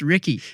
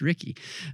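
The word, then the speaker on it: Riecke: his last name Thomas Ricky and he said as in Ricky Bobby and so I can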